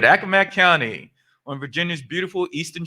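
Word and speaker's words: Accomack: originally from i had to check this the pronunciation on this earlier akka mac that's right all right all right akamak county on virginia's beautiful eastern shore hearing degrees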